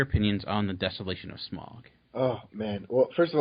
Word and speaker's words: Smaug: Because I've always said Smaug. I know it's probably incorrect, but I'm like, I've always said Smaug, and they Smaug. No, it's they're British, so they kind of say it right, but it's always been Smaug in my mind. But yeah, and Smaug wouldn't rhyme with smog and fog, which is in the ending song.